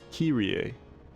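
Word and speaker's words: Kyrie: Standard universally accepted pronunciation for kilier is kier. Kirier. Three syllables. Kirier. Famous ancient Greek phrase. Kir Elaison.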